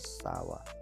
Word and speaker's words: sour: देखिए pronunciation, correct pronunciation with phonetic transcription. Phonetic transcription के साथ आपको SOUR होता है गाइस, सावर, सावर, सावर।